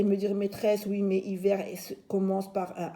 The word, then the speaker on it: hiver: Alors vous allez me dire, maîtresse, oui, mais hiver commence par un H. Mais vous savez que le H ne se lit pas.